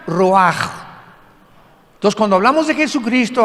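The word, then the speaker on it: רוח: Y la palabra para espíritu en el versículo 29 es la palabra, se escribe ruach, como suena, con R de Raúl, CH al final, ruach, y se pronuncia ruach.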